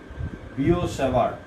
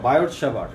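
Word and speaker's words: Biot–Savart: মান বের করার জন্য বিও সেভার্ট, দুজন বিজ্ঞানীর নাম, বা বায়ট সেভার্ট, এটাকে বায়ট সেভার্টও বলা যায়, ইংরেজির উচ্চারণ যেভাবে হয় বায়ট সেভার্ট।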